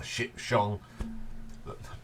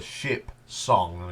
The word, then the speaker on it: Ship Song: version of that the ship Shong got be careful how you say that cuz it the ship song yeah I've had to